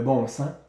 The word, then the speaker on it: bon sens: Le bon sens, S-E-N-S. On ne prononce pas le S. Des fois, on va l'utiliser, le S, c'est-à-dire on va le prononcer.